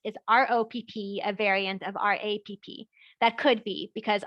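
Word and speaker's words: Rapp: And then Marjorie also asked, is R-O-P-P a variant of R-A-P-P? That could be, because R-A-P-P was pronounced Rap in Germany, which is how we would pronounce R-O-P-P in English.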